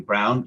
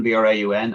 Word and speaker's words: Braun: the seminal authors, and she pronounces her name Brown. She spells it like the German B-R-A-U-N, and it's very particular that you don't call her Braun.